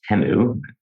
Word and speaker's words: Temu: One, I didn't realize it's actually pronounced Temu. I've been saying it wrong for a few years now.